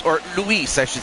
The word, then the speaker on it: Luis: Hey, what's up, Lewis or Luis, I should say. Sorry, Luis. I I have a friend who's also whose name is spelled L U I S, but it's pronounced Lewis.